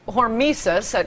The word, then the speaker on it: hormesis: it's called hormesis, that's how it appears to be pronounced, I've only read about it, the beneficial effects of radiation.